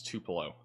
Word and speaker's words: Tupelo: Can you finally pronounce Tupalo? Tupelo. It's Tupelo.